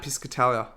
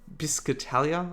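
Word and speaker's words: Piscatella: Um, so I've taken a lot of points from Matt Piscatalia. Biscatalia, I think is how you pronounce his name.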